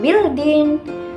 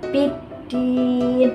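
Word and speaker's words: بالدين: Jadi bukan bildin, tapi biddin dimasukkan.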